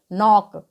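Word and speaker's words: knock: पर नो आया है तो जब के के बाद एन ओआई तो वहां पर के साइलेंट रहता है ओके एन ओ सी के को हम क्या पढ़ेंगे नोक इसी प्रकार से केनो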